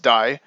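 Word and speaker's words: 大: be familiar to you it's the big character pronounced die and to the right you have Jin which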